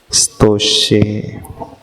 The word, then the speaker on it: स्तोष्ये: हाँ, तो ई लग जाता है उसके, ई लग जाता है, तो ई को साइलेंट कर लेना है। ई का उच्चारण ना होने पर स्कूल, स्तोष्ये।